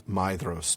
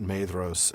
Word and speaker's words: Maedhros: Maedhros the tall and that is Maedhros, not Maedhros as what's his name pronounces it.